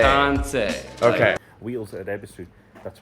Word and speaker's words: Kansei: Correct way to pronounce Kanzai. Yeah, this is a good one. Yes. So it is Kansei. Kansei. Kansei.